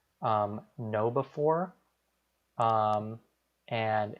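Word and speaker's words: KnowBe4: good resources out there one is called um know before um and it's spelled like k-n-o-w b-e and then the number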